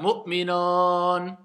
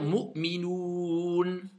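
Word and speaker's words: مؤمنون: Donc certains vont faire Mu'minon. Il y en a plein, ils le disent Mu'minon. Est-ce que ça c'est un OU? Non. Donc je dois dire Mu'minoun. D'accord? Faites bien attention à prononcer bien le OU et pas O.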